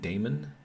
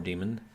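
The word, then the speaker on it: Daemon: Thruster interesting uh oh Mr demon is pronounced Damon uh it's definitely it's pronounced differently from the spelling um so that's d a e so so that's like a an alternate spelling for demon and it's pronounced Damon or demon so I'm just going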